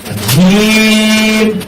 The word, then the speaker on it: جيم: এটা হবে শক্ত হবে, শ্বাস ঘন থাকবে এবং মাত্রার 6 অনুযায়ী এই হরফটাকে উচ্চারণ করতে হবে।